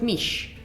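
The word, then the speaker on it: miš: in Slovenia oh really wait miss but you pronounce it mish right mish the little s thing that you wrote over there sounds like nish oh ho ho which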